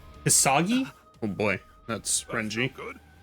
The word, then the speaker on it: Hisagi: inflict so much damage Shu I think it's shui you pronounce it hisagi oh boy that's RI